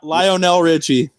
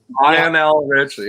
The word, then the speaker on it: Lionel Richie: What's the pronunciation? Lionel Richie. Lionel Richie.